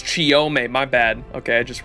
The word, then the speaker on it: Chiyome: Chiyohime? Am I saying it wrong? I ain't touching Achilles, bro. Oh, it's Chiyome, my bad.